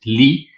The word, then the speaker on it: Lie: But the main thing I wanted to correct is that Lie is the name of a mathematician. Pronunciation is Lee. So Sophus Lee was a mathematician who contributed to this subject of symmetry and group theory in broader aspect.